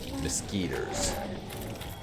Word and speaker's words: mosquitoes: i hate mosquitoes and no people in canada don't pronounce it mosquitos it's mosquito but i pronounce it mosquitoes i don't know why i just i just started doing it and i never re-examined it and as much as